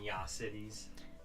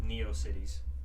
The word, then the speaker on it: Neocities: Neo cities. There's no Y in there.